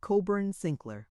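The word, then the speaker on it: Cockburn Sinclair: On the floor above us are Miss Kolkun Kohhun and her cousin Miss Cochburn Sinclair Coburn Sincler. As soon as the Heper cyans depart, Mrs.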